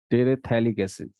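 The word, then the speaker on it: terephthalic: PH silent होता है, टेरेथैलिक एसिड, टेरेथैलिक एसिड।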